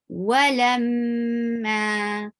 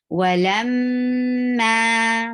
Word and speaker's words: ولما: ظهورهم كأنهم لا يعلمون Walamma. Circle your lips to pronounce wow. You're not using your teeth to touch the lower lip to pronounce wow. Be very careful to pronounce it.